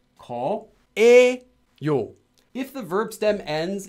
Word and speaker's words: 거예요: This is written as 예요, but when you pronounce it, you do not pronounce it ever as 거예요. It's always pronounced as 거에요.